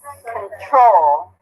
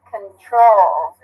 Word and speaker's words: control: Which one's stress? First or second? Control. Control. Second one.